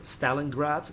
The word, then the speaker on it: Stalingrad: and again it's under Stalin god map or Stalingrad as it is pronounced in English some people who are